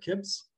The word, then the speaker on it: CIPS: But so I'm going to tell you a little bit about who we are at CIPS. It's a hard C like bruschetta.